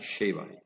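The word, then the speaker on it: שבע: Si observan ahí el puntito, está del otro lado, del lado derecho. Entonces se pronuncia como SH, Sheva, Shiva.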